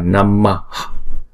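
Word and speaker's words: नमः: Nhưng vì đứng chung một câu như thế này thì chúng ta không đọc namaha, chúng ta đọc là namah. Chúng ta hạ cái hơi nhẹ ra thôi.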